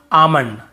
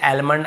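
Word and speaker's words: almond: काम बाम पाम और आमंड ऐसे आलमंड आलमंड नहीं पढ़ेंगे।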